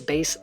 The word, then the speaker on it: Bass: dumb that accent sounded why does Mega Man pronounce bass like the fish instead of the musical cleff well because the Japanese